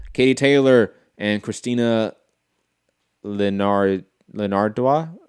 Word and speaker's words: Linardatou: Katie Taylor and Christina Linardatou. How do you pronounce that name, Rob?